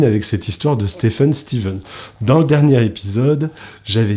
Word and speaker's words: Stephen: une exception pour laquelle on prononce le ph v c'est steven pour stephen enfin c'est à dire que ça s'écrit stephen mais on ne prononce pas stephen on prononce steven et